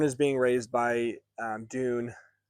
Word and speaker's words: Dun: Thorne is being raised by um Dune. D U N is how you spell it.